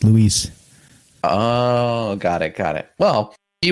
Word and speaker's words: Luis: Luis. Lou Elizondo. That's why people call him Lou, because it's Luis.